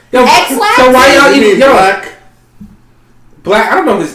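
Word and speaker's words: 6LACK: This dude put a 6 in front of LACK, and we supposed to say black?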